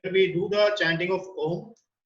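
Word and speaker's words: ॐ: Second meditation is Nad Anusandhan, where we do the chanting of Om. So Om is made up of 3 syllables, where A, U and Ma.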